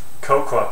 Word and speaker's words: cocoa: Oh, and cocoa powder. I think you say cocoa in North America, which is stupid because it's read C-O-C-O-A. There's an A on the end and you're meant to pronounce that.